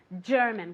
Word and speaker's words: German: Careful with the pronunciation. German, como si fuera CH, pero un poco más suave.